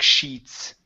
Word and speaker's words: sheets: to here the music sheets okay so we're focusing on the sh to the TS okay the music sheets the music sheets okay